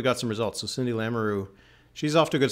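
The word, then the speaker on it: Lamoureux: she like because but this is how it's pronounced that's that's how the family pronounces it because Kevin lamaroo is her father I know I know and is uh I think is the house leader the assistant house leader of the Liberals in in in uh in Parliament but anyway every time I've heard it pronounced it's a lamaroo so yeah because because well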